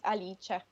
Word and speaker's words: Alice: How do I pronounce your name? Is it Alice or is it an Italian like Alice? In Italian, it's pronounced Alice.